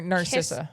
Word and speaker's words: Narcissa: Nar Narcissa. Narcissa. Yeah, like as in narcissist.